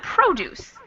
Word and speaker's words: produce: Or if we go back to the beginning, we've got produce. Produce gets the stress in the beginning of the word.